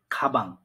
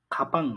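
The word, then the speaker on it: 가방: এরপর হচ্ছে খাবাং। প্রথম অক্ষরের পরে বিয়ফটা বসছে, তার উচ্চারণ হবে বয়ের মতো, খা বাং। খাপাং না, খা বাং।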